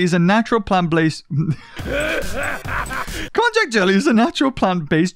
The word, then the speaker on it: konjac: that's it cognac right i thought cognac was alcoholic am i wrong yes uh really lets the pizza juice shine for a sweet and delicate flavor is it okay so konjac sorry i was saying it wrong i meant konjac that's it if you're